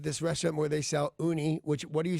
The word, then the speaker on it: Ooni: This is being offered by the company called Uni. They make pizza ovens. Uni? Yep. How do you spell it?